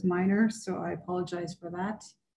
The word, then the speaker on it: Milner: said your name wrong it's written down milner but you said it was minor so i apologize for